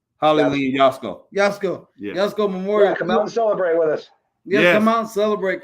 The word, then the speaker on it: Yatsko: Hollie Lynn, how do you pronounce her last name? HOLLIE YATSKO.